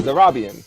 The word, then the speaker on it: Zarabian: Did I say it right? Zarabian. Yes, you said it right.